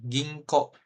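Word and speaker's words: 銀行: Ginko. Gitu ya. Ginko. Nah, ini eng juga nih. Ginko. O-nya double jadinya.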